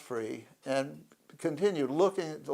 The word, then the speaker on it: Fri: And You said free? F-R-I. Oh, Free. Okay. Yeah. And pronounced Free.